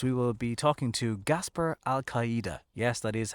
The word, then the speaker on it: Gaspar Alcaide: So coming up on this week's podcast, we will be talking to Gaspar Alcaide.